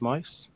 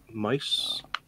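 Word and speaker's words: Maus: first ones um is Mouse wall as I pronounced mice and again I know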